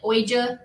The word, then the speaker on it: Ouija: It's spelled like Ouija, but it's Ouija.